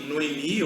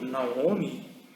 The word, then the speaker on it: Noemi: Esse é um texto de Ruth em que Noemi, ou Naomi, ou Noemi, cada um pronuncia de um jeito, ela falou sobre a providência de Deus na vida dela.